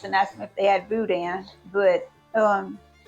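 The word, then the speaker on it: boudin: ask if they had Budan but um b o u d i n but b o u d i Nan people call that Budan and the Cajun people pronounce it Budan and it comes it's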